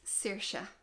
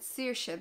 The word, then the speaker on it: Saoirse: you probably heard it a few times that's Saoirse which means freedom and I pronounce it Saoirse because of where I am in Ireland that's